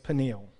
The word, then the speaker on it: Peniel: last verse verse 30 Jacob named the place Peniel that's how you pronounce it but I'm gonna change the pronunciation